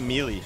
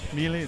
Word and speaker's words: melee: here but oh good you pronounced melee correctly a lot of people say melee melee no melee I hang around like